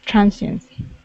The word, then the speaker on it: transience: visitors visitors good um this is transience the stress is at the very beginning okay transience and give me a